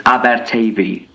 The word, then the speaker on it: Aberteifi: Speaking of awful pronunciations, with the town and where result, it's Aberteifi.